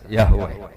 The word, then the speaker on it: Yahweh: Iku nak teng ejaan Latin Y besar, A H besar, W E H besar, Yahweh.